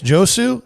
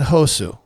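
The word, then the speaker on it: Josué: I've heard the first name pronounced two ways, Josu and Hosu.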